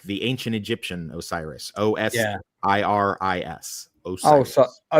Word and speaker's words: Osiris: O S I R I S. Osiris. Osiris. Yes. Osiris.